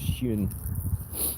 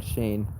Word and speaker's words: schön: With the accent over the O like that, I think that's schön rather than Shane.